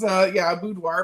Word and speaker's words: boudoir: It's a French word, and it is boudoir, but people say boudoir, whatever.